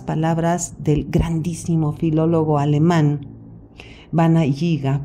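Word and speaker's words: Werner Jaeger: del grandísimo filólogo alemán bana yiga pronunciado en español Warner heger y quien dice en el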